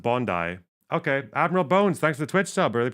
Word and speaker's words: Bondi: Bro remember the hallador Bondi is pronounced Bondi okay Admiral bones thanks